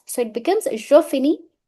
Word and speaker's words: finis: So it becomes je finis. Last letter, that is S, will remain silent.